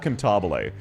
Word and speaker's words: Cantabile: You don't say it as a normal C noise. It is a K. It is a hard K. Hydrate? Yes, sir. Cantabile is a hard K noise.